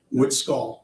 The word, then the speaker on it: Witzgall: Witzgall, exactly the way it's spelled, sir.